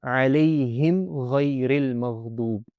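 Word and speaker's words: عليهم غير المغضوب: And when any of these letters come after the mim sakina, the mim should be pronounced very clearly and there will be no extra nasalization. That's the most important thing. So, alayhim ghayril maghdub.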